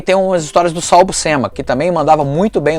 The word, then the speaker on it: Buscema: Prefiro o Sal Buscema no Hulk, mas também mandava bem. E a pronúncia não é Buscema, a gente fala Buscema, a pronúncia é Buscema, é sobrenome italiano.